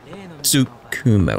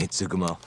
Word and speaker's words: Tsukumo: Tsukumo. Like, I'm trying to not pronounce the T, but still it inflects upon how I say the Su. So it's Tsu.